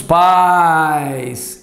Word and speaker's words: pais: Ah qual é a vogal tônica desta primeira um país olha lá um país se faz com homens e livros e aqui qual é a vogal tônica os bons exemplos dos Pais é o a perceberam a diferença na vogal tônica tanto que na pronúncia a gente ouve país pais as palavras são diferentes